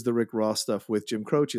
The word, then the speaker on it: Jim Croce: Yeah, I mean, it's so great, the soundtrack that includes the Rick Ross stuff with Jim Croce.